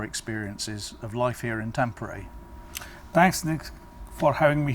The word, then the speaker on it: Tampere: Earlier I was not sure how to pronounce the name, Tampere or something, but then after coming